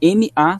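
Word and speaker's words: Mach: né que é a escreve m a ch a pronúncia ma tanto se você dá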